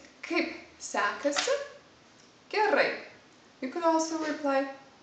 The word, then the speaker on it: kaip sekasi: you is basically basically kaip sekasi the first word is harder really hard you have to pronounce kaip it's kind of an explosion kaip kaip sekasi the second word sounds a bit like sexy just the pronunciation kaip